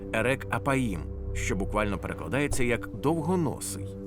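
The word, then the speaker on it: ארך אפים: фраза повільний на Гнів вимовляється як ерек аїм що буквально перекладається як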